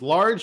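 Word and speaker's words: Lage: introductory interview he's like it's large without the r oh it is yeah okay not not with any okay i heard large a recently on sky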